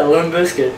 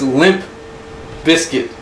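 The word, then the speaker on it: Limp Bizkit: oh my God yeah limb biscuit all right you say limb biscuit like a limb biscuit that's how you pronounce it no it's Limp Biscuit like a biscuit that limps all right first off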